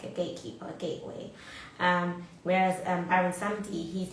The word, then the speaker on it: Baron Samedi: But instead of Papa Legba, she was strict and actually she summoned Baron Samedi.